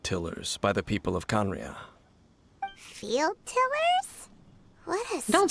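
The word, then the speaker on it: Khaenri'ah: Conria, that's how it's pronounced.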